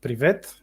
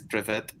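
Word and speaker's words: Привет: pretty much the same how do you pronounce it in Bulgarian uh privet oh privet PR without uh Accent on the the E uh so Russian is like privet and then yeah yeah and Bulgarian is privet nice what do what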